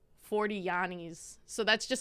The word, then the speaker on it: Giannis: so I always say Yanni because that's how you pronounce it in Greek and people like clown me like I don't know about basketball because they're like it's Giannis and I'm like you're